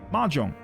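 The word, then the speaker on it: Mahjong: You pronounce the you pronounce the J, so it's Mahong. Majong, is Omega in law book one?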